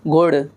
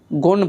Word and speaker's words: गुड़: जैसे गुड़, गुण पढ़ते हैं हम, क्या पढ़ते हैं, गुड़ को गुण, गुण नहीं पढ़ना, ये तीसरा गलत उच्चारण करते हैं।